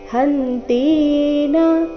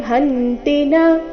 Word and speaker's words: ಹಂತಿ ನ: ಉಭೌತೌಜಾನಿತೋ ನಾಯಂ ಹಂತಿನ ಹಹನ್ಯತೆ ನಾಯಂ ಹಂತಿನ ಈ ರೀತಿ ತೀನ ದೀರ್ಘ ಮಾಡಬಾರದು ನಾಯಂ ಹಂತಿನ ಹಂತಿನ ಹನ್ಯತೆ ಕೊನೆಯ ಚರಣದಲ್ಲಿ